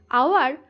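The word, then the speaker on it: hour: আওয়ার, এইচ ও ইউ আর, আওয়ার এইচ দিয়ে শুরু হলেও উচ্চারণ হচ্ছে আ।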